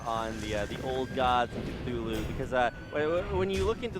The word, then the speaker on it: Cthulhu: Is that how you pronounce it? Cthulhu, yeah.